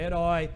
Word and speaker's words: herói: por exemplo a palavra herói a palavra hora a palavra homem essas palavras começam com h o h é uma letra é escrito mas não é pronunciado por que se inscrevem